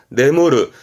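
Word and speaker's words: 眠る: 발음은 후민셔. 동사로 쓰게 됩니다. 네무르.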